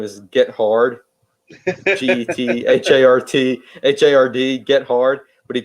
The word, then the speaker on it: Gethard: It was Chris Gethard, although his last name is Get Hard, GETHARD, Get Hard, but he pronounced Yeah.